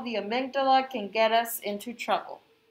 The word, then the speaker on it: amygdala: Our amygdala, pronounced amygdala, is about the size